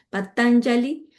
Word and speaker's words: Patanjali: Patanjali. Bueno, la J es se pronuncia como Patangali, Aristóteles, creo que sé si lo conocen bien, a Platón, a Sócrates, a Pitágoras, a Sidarta Gautama.